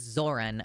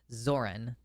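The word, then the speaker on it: Zohran: It's Zoran. Okay, that's what I thought. Bernie Sanders said it wrong. Zoran.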